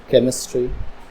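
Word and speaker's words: chemistry: sound silent हो ठीक है एच से पहले अगर सी आए जैसे यहां पर एच से पहले सी आया तब भी एच की साउंड साइलेंट होंगी जैसे केमिकल केमिस्ट्री टेक्नोलॉजी यहां पर एच से पहले सी आया यहां पर एच की साउंड हो गई साइलेंट ठीक है एच से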